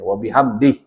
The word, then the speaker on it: wabihamdih: kalau orang Indonesia bacanya wabihamdihi. Kalau orang Arab biasanya kalau di akhir selalu di kalau yang fasih dimatikan. Jadi kalau orang Arab kalau baca yang fasih itu dimatikan di akhirnya wabihamdih.